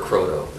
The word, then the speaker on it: Croteau: name is David Henry Cotto how do you spell your last name c r o t Au and we're using the French pronunciation my family is divided I prefer Cotto oh croo I see okay yeah